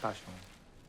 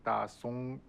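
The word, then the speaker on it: 大雄: 我叫大雄。 I know，这个名字对于外国人来讲发音有点 pronunciation is not good。大雄、大松、 ，对啊。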